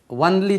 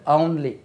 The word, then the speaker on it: only: ஒன்லி இதனுடைய உச்சரிப்பு கவனிங்க நல்லா. ஒன்லி ஒன்லி சொல்லக்கூடாது, ஒன்லி.